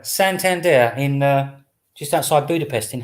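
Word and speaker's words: Szentendre: How do you pronounce the name of this place? Santander. Santander, in just outside Budapest in Hungary.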